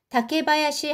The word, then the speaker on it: 竹林: 타케가 대나무이고요. 원래 요거 숲을 님자는 하야시라고 읽는데요. 숲이에요. 타케랑 합쳐져 가지고 하가 마가 됐습니다. 그래서 다케바야시 하면은 대나무 숲이 되겠습니다.